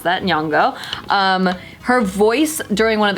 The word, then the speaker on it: Nyong'o: I didn't know how to pronounce that. Nyong'o.